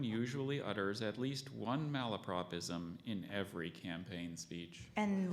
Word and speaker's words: malapropism: more time malapropism Mal love propism or malopropism can you give me every pronunciation you have in that book I have just one there's malapropism this is a blundering